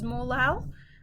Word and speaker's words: molal: molality the units are little m which we pronounce as molal or moles per kilogram